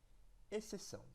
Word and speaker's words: exceção: Qual que é a sílaba tônica? Exceção. Palavra que demorou mais e foi pronunciada com maior intensidade. Ou melhor, a sílaba que foi pronunciada com mais intensidade e demorou mais tempo foi a silabação. Então é a sílaba tônica. Como é a última, nós chamamos de oxítona.